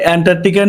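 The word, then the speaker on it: Antarctic: ভাই না, অ্যান্টার্কটিকার নিচে মানে রিসেন্টলি খবরটা পেয়েছেন তো যে অ্যান্টার্কটিকার নিচে যে একটা বিশাল বড় একটা ইয়ে পাওয়া গেছে। উচ্চারণটা অন্তত ঠিক করে করেন, ইংরেজি তো পারেন না।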